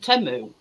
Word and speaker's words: Temu: Well, we all call it Temu, but it's an advert and they pronounce it Temu.